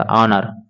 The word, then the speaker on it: honour: होगा ऑनर हो जाएगा, ऑनर। यानी कि एच जो है उसको हम लोग साइलेंट कर देंगे, हाइड कर देंगे। इसका हो जाएगा ऑनर।